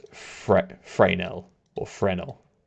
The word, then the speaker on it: Fresnel: obviously I go with fresnel yeah so the name is pronounced FR frel or frenel the S is silent yeah hello 1 hour